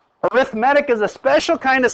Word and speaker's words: arithmetic: And notice I'm not saying arithmetic. The correct way to say this is arithmetic.